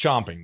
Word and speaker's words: champing: champing at the bits champing yeah oh it is it's pronounced chomping though spell c-h-a-m-p-i-n-g but it's